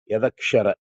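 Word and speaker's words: यदक्षर: Yada akshara, it's pronounced as yadakshara.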